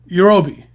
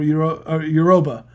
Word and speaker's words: Yoruba: I know, but Yorubi, right? Yorubi or Yoruba? Yoruba. Got it. Is that how you pronounce it?